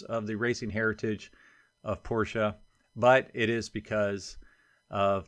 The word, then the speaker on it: Porsche: wondering I've been saying Porsche my whole life until recently and I was told that it's actually Porsche because it is based on the way the family's name is pronounced in German so apparently technically it